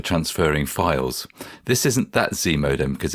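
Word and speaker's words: ZMODEM: know yeah okay all right Graham what is z modem I think you've pronounced it correctly as well um Z modem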